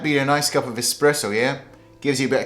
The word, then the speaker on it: espresso: A lot of native speakers make a mistake with this. They say espresso. Espresso. I guess they get confused by the word express, meaning they get a shot of coffee and it gives them the caffeine really quickly. Espresso. But it should be pronounced espresso.